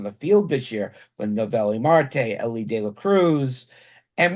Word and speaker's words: Noelvi Marte: I'm making sure I pronounce the name right. Noelvi Marte.